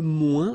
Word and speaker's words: moins: Okay, so le moins, remember when we combine this O-I-N together, we get the sound ouin, ouin, ouin, okay, and we don't pronounce this final S.